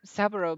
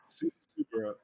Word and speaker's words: Subaru: Subaru. Subaru. Subaru. Sorry. Subaru. It's like no. It's like the Uh-huh. car. It's actually like the car Subaru.